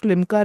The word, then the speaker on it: Limca: By the way, another interesting fact about Siddharth for the audience, he also is a holder of Limca record for largest English language puzzle.